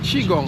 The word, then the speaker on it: qigong: it wrong but please correct me on the pronunciation the chiong yeah chiong yeah chong chong yeah so can you talk a little